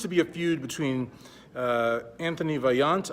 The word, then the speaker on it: Antoine Vaillant: The first story we're going to start out with today is what seems to be a feud between Antoine Vaillant, I believe is how you say his name, and men's physique Olympia champion, retired champion, maybe coming back champion, I don't know, Jeremy Buendia.